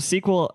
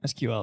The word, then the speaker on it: SQL: to them is SQL well sequel I'm for because it's two syllables and not three SQL is three syllables yeah it's weird man